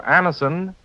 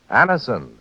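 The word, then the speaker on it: Anacin: Just ask for Anison at any drug counter. It's spelled A-N-A-C-I-N. Anison.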